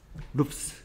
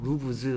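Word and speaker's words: roofs: 루프스 이렇게 합니다. 루프스. 루브즈 하는 게 아니고요. 됐습니까? 루프스라고 발음합니다.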